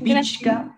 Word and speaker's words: pichka: El pichka, aquí es como la che, le haces que suene la che. Pich. Pichka. Pich, la che, pichka. Es pichka, voy a hacer pich. Pichka, chuta, canchis, usak, iskun, chunga.